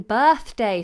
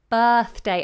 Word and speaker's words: birthday: have a problem pronouncing birthday says Shiv birthday a lot of people struggle with this but that's the flat vowel sound I talked about earlier bur tongue between the teeth birth day birthday and in fact I'm